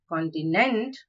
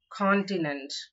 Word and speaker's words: continent: the second syllable ambitious the third word is continent it's not continent but continent the fourth word is